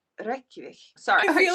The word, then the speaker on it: Reykjavik: No, like roll your Rs. Reykjavik. Reykjavik. If you want to sound like you know what you're doing when you're speaking a Nordic language, always just put the emphasis on the first syllable.